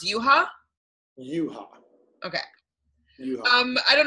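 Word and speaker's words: Yuhua: you ha ha Misaki no it's but is why you hua but it's pronounced you ha you ha ok I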